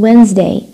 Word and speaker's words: Wednesday: d as in Wednesday. ما في d.